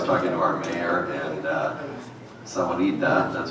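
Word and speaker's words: Sahuarita: But if you haven't read our website, last night I was talking to our mayor, and Sawanita, that's how you say it, has decided that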